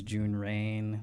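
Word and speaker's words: Jun Raine: My name is June Rain. That's spelled J U N R A I N E.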